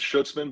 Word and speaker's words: Schuetzmann: Huddle guys so I'm right here with schutzman am I saying it right I hope I I said it right not too bad it's schutzman but that I'm used to uh mispronunciation so it's not bad at all okay